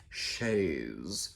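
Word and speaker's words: chaise: here in sillard michigan we just called it a chase lounge but it turns out it's shades and you have to say it like that with a little bit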